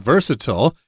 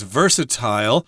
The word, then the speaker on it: versatile: I should mention that this word can also be pronounced as versatile it depends on who you're talking to and we are talking